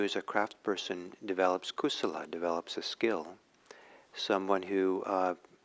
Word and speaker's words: kusala: buddhist term and it's uh in pali it's kusala and akusala kusala is spelled k-u-s-u-l-a no k-u-s-a-l-a and ako solos a